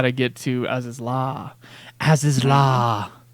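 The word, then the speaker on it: Azys Lla: That tells you how to get to Aziz Law. Aziz Law. As is law is what it sounds like.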